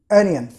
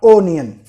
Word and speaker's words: onion: Word ओनियन, ONION, ओनियन लिखा जाएगा, मगर जब प्रोनाउंस करेंगे तो एनियन, एनियन, नॉट ओनियन, ANYAN, एनियन।